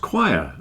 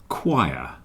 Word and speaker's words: choir: it but it's pronounced choir a group of people singing is called a choir and it rhymes with h and liar choir they are singing higher choir rhymes with high and liar debt debt doubt doubt